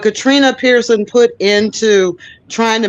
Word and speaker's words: Katrina: of work Katrina Katrina Katrina not Katina but Katrina Pearson put into trying